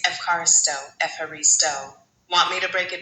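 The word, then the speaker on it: ευχαριστώ: Say it like this. Ef as in effort, then ha like a soft laugh. Re like re in reef. And finish with stoach with a strong sto sound.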